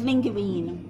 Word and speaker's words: linguine: It's linguine. It's the right way to say it.